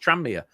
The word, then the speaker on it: Tranmere: It's just Tranmere. It's just like, there's no... What? Tranmere. Yeah. Boom. Perfect. There's no gap.